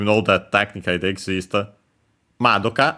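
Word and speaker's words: まどか: Madoka, accent on the ma.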